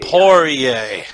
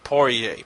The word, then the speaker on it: Poirier: ] it up every single time oh yay Poirier alright i'm poor yay Poirier and he's facing mitch clark who also is